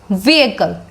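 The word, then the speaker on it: vehicle: Next word we have बहुत ही यानी common word है, बट प्रोनाउंसिएशन इसकी थोड़ी डिफरेंट है. सो इट is pronounced as व्हीकल. व्हीकल. व्हीकल.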